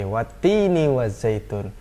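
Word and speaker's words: والتين والزيتون: huruf yang berharakat tasydid kalau tasydid itu bacanya agak ditahan dua harokat ya bacanya agak ditahan dua harokat ya contoh Hai ada di sini apa Pah ini lagi watini wazaitun watini wazaitun watini baca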